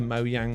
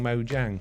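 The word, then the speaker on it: Mojang: is the right pronunciation which brings us to mo yang mo jang i guess you know which is the right way nobody knows even mo yang don't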